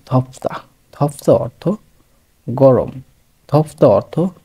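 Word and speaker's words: 덥다: ধ এবং থর মাঝামাঝি উচ্চারণ ধপ্তা, ধপ্তা অর্থ গরম, ধপ্তা অর্থ গরম।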